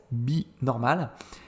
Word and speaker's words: Be Normal: Alors je prononce à la française, Binormal.